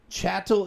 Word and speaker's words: chattel: Chattel is the word, Chattel, if I remember correctly, but it's pronounced chattel.